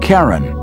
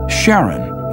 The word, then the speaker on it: Charon: christie suggested the name karen after the ferryman of pluto's underworld in greek mythology but preferred to pronounce it sharon more like his wife's name charlene from the motions of